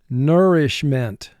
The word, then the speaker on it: nourishment: Nourishment. Nourishment. We must provide nourishment for all. Nourishment. 3 syllables. First syllable nur, 2 sounds. N, Ish, 2 sounds. I, sh. Ment, 4 sounds. N, t.